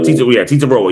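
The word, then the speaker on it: Tetairoa: Titaroa.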